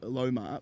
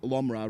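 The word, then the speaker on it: Lomror: Now Mahimal Lomar Lomra rather we'll get the pronunciation right as we go.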